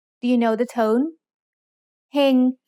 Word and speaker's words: เฮง: Heng has a low-class consonant with a live syllable ending, so it's mid-tone.